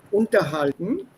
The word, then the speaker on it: unterhalten: So, gute Beziehungen unterhalten. And remember, this is not separable. The stress will be on the second syllable.